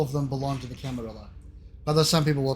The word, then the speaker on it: Camarilla: them belong to the camera although some people will pronounce it camarilla and characters even in this game pronounce it both ways the nosferatu as a